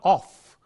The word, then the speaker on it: of: in the weak form, there is no f sound here in this word. It is a v sound. It is not of, but it is of.